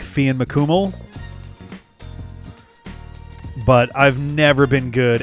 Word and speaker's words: Cumhaill: Oh yeah, so MHAI I guess is kind of a W, in all that spelling. So Cumhaill, Samhain. Gets skipped a lot.